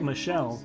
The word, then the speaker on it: Michel: he's my friend yep michael and you know it's always difficult because the um the game says that it's pronounced like michelle but as you can